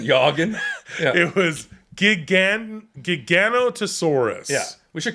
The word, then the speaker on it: Giganotosaurus: an actual dinosaur and it was a soft g like jog jogging yogan it was gigan giganotosaurus yeah we should call